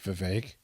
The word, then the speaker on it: Vivek: the other day that it rhymes with cake Vivek and I'm like oh